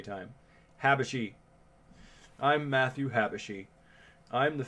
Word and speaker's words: Habashi: I'm going to go as directed to Matthew Hasherby. Sigmage, right? My name's Matthew Habashi. Excuse me. I say his name wrong every time. Habashi.